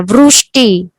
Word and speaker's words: वृष्टि: तो आपको इसको कैसे कहना है, प्रोनाउंसिएशन व्रू कहना है, वृष्टि। इसके अंदर री नहीं ऐड किया है। कई जन को लगता है कि, कई जन वृष्टि कहते हैं, सृष्टि कहते हैं, वृष्टि कहते हैं। तो व्री श्री ये नहीं है, जब क्योंकि इसके अंदर री है ही नहीं, इसके अंदर रू है।